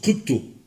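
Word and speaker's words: κρύπτω: qu'il a c'est le verbe qui qui se prononce crypto alors crypto ça va vous dire quelque chose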